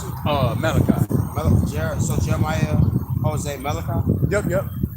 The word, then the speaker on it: Malachi: How you pronounce it? Malachi.